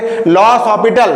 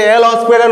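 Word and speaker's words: L'Hôpital: ইনডিটার কিছু ফর্মস থাকবে লস অসপিটাল যেটাকে অনেকে এল হসপিটাল উচ্চারণ করে মনে রাখার জন্য কিন্তু নাম কি লস অপিটাল সেই লস অসপিটাল রুলটা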